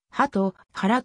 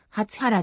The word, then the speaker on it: 鳩原: 更地になった鳩原は敦賀市の地名としてはハトからと読むが信号場の読みは初腹であった青実践が柳ヶ瀬